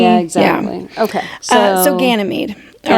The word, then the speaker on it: Ganymede: So we have to go into the Greek pantheon, and his name is Ganymede. Ganymede. Ganymede. Yep. Ganymede. Ganymede.